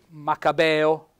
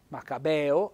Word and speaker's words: maccabeo: gran lavoratore e poi macabeo macabeo Accento sulla e aperto è il Babo lo